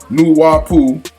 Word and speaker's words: Nupu: mysterious Afrocentric teachings of Nupu, or Nupu, N-U-P-U, properly pronounced Nuwapu, taught by the enigmatic